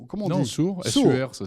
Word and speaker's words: Sur: Big Sur, comment on Non, dit Sur, SUR, ça s'écrit.